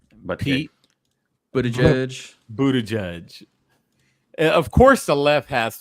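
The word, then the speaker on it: Buttigieg: Bo I'm gonna say his name right but Buddha judge Buddha judge of course has to turn everything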